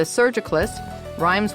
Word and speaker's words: surgicalist: And joining us today to discuss the role of the surgicalist, rhymes with hospitalist, is Dr.